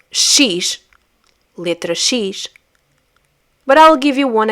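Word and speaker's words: xis: Then we have X, which in Portuguese is pronounced as she sees she. Notice how the beginning and the end of the name of the letter X have this shh sound. Sheish.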